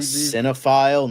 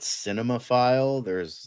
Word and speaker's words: cinephile: Look, It's we've cinephile, not cinemaphile. yeah, That's for the wrong it's terminology. also spelled with Richard a Donner, PH.